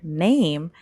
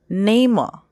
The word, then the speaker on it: name: a Chinese student and they say the word name they may think it's Nemo because the letter e at the end of name they think it's going to sound like uh because e sounds like